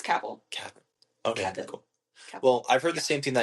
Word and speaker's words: Cavill: Is that how do you pronounce his last name? I think it's Cavill.